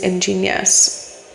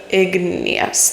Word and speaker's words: igneous: It is the maiden goddess archetype, and the formation process is ingenious, or igneous, that's the right way to say that.